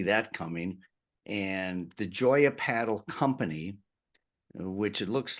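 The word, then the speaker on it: padel: start I think with what is paddle and paddle is how we pronounce it in Spanish um as well um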